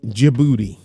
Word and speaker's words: Djibouti: And then jibouti the the D is the D is silent. Djibouti.